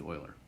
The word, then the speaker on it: Euler: calculator e is named after euler so it's pronounced euler so we're going to talk about euler paths